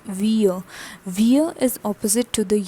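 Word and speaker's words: vieux: next is vo vo what is the pronunciation it's vo vir is opposite to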